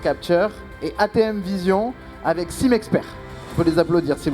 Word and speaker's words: Simexpert: Alors, quelques mots sur votre innovation, le Simexpert, si je le prononce bien. Oui, c'est ça, Simexpert.